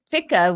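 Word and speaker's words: Fichte: thesis antithesis synthesis it was actually John gotle Fitch who f is how it's pronounced who talked about that and uh then fika was who showed Hegel who's often attributed to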